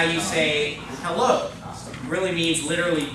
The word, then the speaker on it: es: makes an E sound, so that word's going to be V. That means how. Everybody say it? V. The next word is gate. Everybody say it? Gate. The next word, S. S.